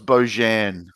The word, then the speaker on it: Bojan: I think the four is an A. So Okay. it's Bojan.